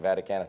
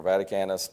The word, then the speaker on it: Vaticanus: it's the same thing vaticanus I think is a Latin pronunciation of that but some people will call it vaticanus some people call it